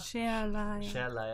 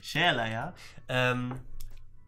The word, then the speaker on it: Sherlaya: Shalaya. Ohne Ö. Ohne Ö. Shalaya.